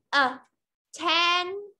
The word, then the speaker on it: attention: Attention ở đây thì cái từ đằng trước, cái từ tion nó cũng là được, nó cũng được nhấn trọng âm. Attention. Rồi vào âm tiết thứ hai, rồi vào từ ten.